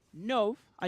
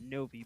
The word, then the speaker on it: Nov: Nov. I do apologize earlier about the mispronunciation. That is what they told me in chat, Novi. But I believe Nov is the correct pronunciation.